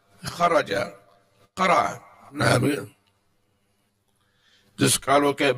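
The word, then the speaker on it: خرج: Kalimah itu kalau 3 huruf, itu membacanya huruf pertama langsung ditekan, biar enggak keliru. Qira'ah ini 3 huruf, kharaja 3 huruf, bacanya langsung qira'ah, kharaja, dakhala.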